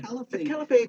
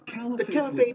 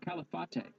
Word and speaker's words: Caliphate: I think I heard one guy actually say Califate at one point.